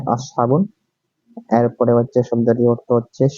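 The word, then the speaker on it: أصحاب: এসেছে তারপর হচ্ছে আসহাবুন এই শব্দটি উচ্চারণ হচ্ছে আসহাবুন এরপরে হচ্ছে শব্দটির অর্থ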